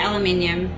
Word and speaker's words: aluminium: We say aluminium, because that's how it's spelt there.